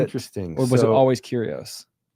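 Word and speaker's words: κύριος: Um, did they ever I I think the Greek word is curios which is lord. Curios or curios depending on your Greek dialect.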